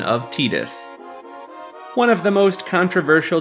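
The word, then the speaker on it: Tidus: in some media and it always ends up being pronounced as tetus rather than Titus or anything else with the most notable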